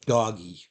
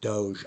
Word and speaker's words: Doge: it spin-off of doggy I don't call it Doge I'm pretty sure the originator is meant for it to be pronounced doggy because look look at the never mind look at the picture though it's a dog dog e it's some idiot like Elon Musk that changed it to Doge or because they like